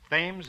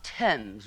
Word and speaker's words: Thames: I should probably end it all by leaping into the Thames River. Oh, Mr. Marks, it's pronounced Tempame's River.